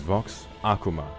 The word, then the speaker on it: Vox Akuma: gonna have to wait so my name is vox akuma not akuma i pronounce it wrong myself sometimes although you're welcome